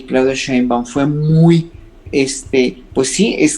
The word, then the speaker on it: Sheinbaum: No, y no solamente ahora sí voy a pronunciar el nombre de Claudia Sheinbaum. Sheinbaum.